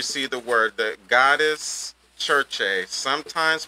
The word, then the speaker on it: Circe: So goddess, churche, sometimes pronounced churche, properly pronounced in traditional ancient Greek as Circe.